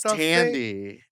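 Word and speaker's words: Thandie: What's your favorite Sandy Newton movie? Who's Sandy Newton? Is that the It's going to be a strange. Oh, I think it's Tandy.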